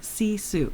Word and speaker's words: Sisu: forget it's called and this is the American pronunciation it's called sisu s-i-s-u my [ __